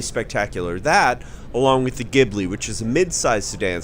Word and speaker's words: Ghibli: morning not so much start it so the gibl is that pronounced correctly by the way that is correct